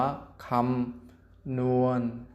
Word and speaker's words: คำนวณ: น้อ เณร สะกด อะเนาะ คำนวณ อ่าน ว่า คำ นวน หนัก 10 มา นั่ง